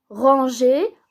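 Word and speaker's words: rangeait: On ajoute le E pour que ça se prononce pas G.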